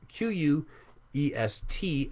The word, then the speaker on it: quest: So in question, we have Q-U-E-S-T as the base, but that base is pronounced quest in that word.